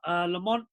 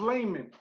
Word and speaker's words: Lamon: Lamont, how you doing, my man? Doing good, man. It's pronounced Layman. Lamon Brewster. Sounds good. It sounds like Lamont.